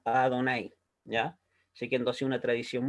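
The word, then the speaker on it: Adonai: de esas cuatro consonantes un judío observante de la torá cierto esas cuatro consonantes la pronuncia como a donaire ya siguiendo así una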